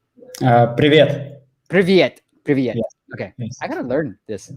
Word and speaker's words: Привет: And then Pivit, is that hi? Yeah. Yeah, I think he's in Russia. Raphael, we're taking a look at that. Yeah, Pivit, am I saying it right? Привет.